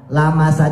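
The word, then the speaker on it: لَمَسَ: Nah, lamasa di situ dalam mazhab Hanafi dibacanya pendek.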